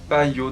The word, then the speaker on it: Payot: crème donc de chez payot donc on prononce pas le thé apparemment donc de chez payot parisse donc c'est une